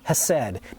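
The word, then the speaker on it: hesed: has for us the word in hebrew is hased h-e-s-e-d if you're going to spell it in english said and it's the loving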